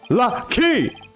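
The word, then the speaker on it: Lah'Kee: Her name's Lucky!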